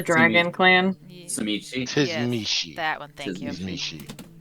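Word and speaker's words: Tzimisce: yes, Tizmishi.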